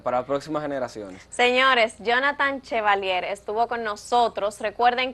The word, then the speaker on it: Jhonattan: Como Jonathan Chevalier. En mi nombre se escribe un poquito complicado porque es JHONATTAN Chevalier.